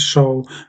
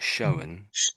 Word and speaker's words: shown: So, the you sort of missed out the N there when you were saying it. So, you said show and not shown. Shown, okay. Yeah, so the N puts it in the past, sort of puts it in the past somehow. Um and there was another